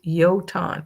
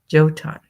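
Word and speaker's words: Jötunn: Uh, Golden Leopard said it's actually pronounced Yoton. Okay. Yoton instead of Joton.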